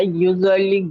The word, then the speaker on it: usually: I usually go out with my friends once or twice a Usually, week, especially on Sadia weekends. Sadia Sadia এই যে দেখবেন double L থাকলে একটা এল উচ্চারণ করতে হয় একটা ইউজুয়ালি নট ইউজুয়ালি ইউজুয়ালি Usually, usually.